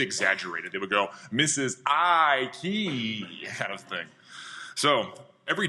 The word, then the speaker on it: Eikey: my last name is she would point to her I and then twist a key so I key so that was the